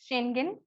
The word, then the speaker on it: Schengen: I call it Schengen visa. Schengen visa. Yeah. The way you pronounce it's right.